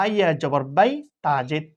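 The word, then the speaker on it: بيت: তাহলে এটা বাইত এভাবে উচ্চারণ হবে।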